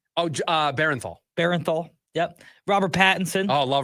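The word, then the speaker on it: Bernthal: Oh, Barenthal.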